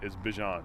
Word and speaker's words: Bijan: How you pronounce my name is Bijan. Okay. Like, that's how you say my name. But I say Bijan.